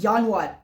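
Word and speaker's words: Januar: Clear करना चाहता हूं जो जर्मन में जे की साउंड होती है वो वाई प्रोड्यूस होती है। वाई। ठीक है? अभी आपको आगे पता चलेगा। और जो एस की साउंड होती है वो हमको जेड प्रोनाउंस करते हैं। ठीक है? Back to screen. तो जनवरी को हम लोग बोलते हैं यान वार। जे की साउंड वाई प्रोनाउंस होती है।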